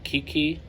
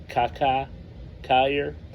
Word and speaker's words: Kiki Cuyler: next a guy that I pronounced his name incorrectly it's kakai Kayer I always call him Kiki but by reading some of the history I believe it was pronounced Kaka Kayer and uh the reason